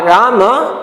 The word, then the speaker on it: राम: is written ra ke akarant ma, mean actually that word pronounced in Sanskrit language Rama, but in Hindi as a halant Ram without a sound Rama, your end of that word letter, last letter in this word, last letter pronunciation as a ma, sound, but here as actual pronunciation is alanta, means a half sound. Ma is a half sound, as a Rama is called pronounced as a make a sound as Ram only.